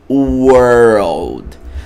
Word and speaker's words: world: World. Tá vendo que tem o RL, o som de RL você faz world.